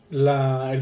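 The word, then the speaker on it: אל: Hoy veremos el primer nombre de Dios que se nos traduce así en la Biblia.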